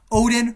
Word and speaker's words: Odin: Odin rhymes with no win.